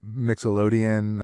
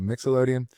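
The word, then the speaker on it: Mixolydian: And so Dorian mode and um Nixelian, not Nickelodeon, but Mixelian I believe is how you say it.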